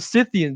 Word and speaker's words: Scythian: People call it Scythian. I pronounce it Scythian because they're named after literally scythes.